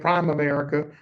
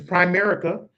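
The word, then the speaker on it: Primerica: I've been saying it wrong. I've been calling it Prime America, but it's Prime America.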